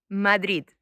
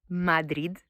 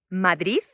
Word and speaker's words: Madrid: Madrid. So that is the correct pronunciation of this word, Madrid. And he said that he has heard three other pronunciations. Madrid, as if the word finished by a Z instead of a D.